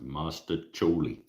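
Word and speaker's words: mostaccioli: everybody's yelling penny uh Master choli is pronounced Master choli Master try I proba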